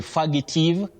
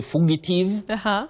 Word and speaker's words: fugitive: many people innocently say faggative some say fugitive fugitive and all that. Right. Now you say few at the onset. That is at the beginning. You say few.